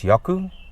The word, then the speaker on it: Jaco: new channel on youtube my name is yaku spelled with a c and not a k and i am your